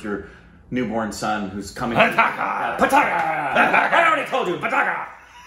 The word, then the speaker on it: Pataakha: How would you pronounce that? Pataakha.